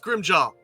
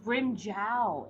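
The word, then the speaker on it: Grimmjow: it's gonna at you it's pronounced grim job our editor is coming for your body i don't care it's how it's pronounced so i'm saying it how they say it in the anime they say brim jao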